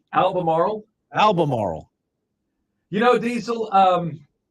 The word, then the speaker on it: Albemarle: a capital I in the middle of that word that's an l oh my gosh albemarie Albemarle Albemarle you know diesel